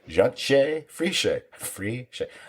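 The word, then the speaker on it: Jantje Friese: us by writers and creators Baranbo Odar and Yanshe Friche. That one I actually wrote down phonetically so I wouldn't screw it up. So it is, it's Yanshe Friche. This is not how the name is spelled.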